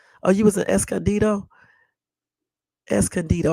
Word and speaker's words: Escondido: you was in Escondido es candido I used to call it eson dto until I looked at it one day and realized I was saying it wrong you know yeah um